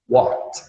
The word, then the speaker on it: walked: Walk, walked, walked. Lembrando que o L é mudo, tá, pessoal?